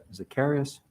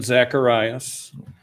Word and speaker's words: Zacharias: Zacharias, I apologize for the mispronunciation, to be followed by Robert Wrigby. Thank you, Mr. President, members of the board. It's Zacharias.